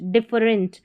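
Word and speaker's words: different: लेकिन यहां पर इ का उच्चारण अ है। तो डिफ डी I double F ई डिफ आर इ एन टी रेंट डिफरेंट डिफरेंट।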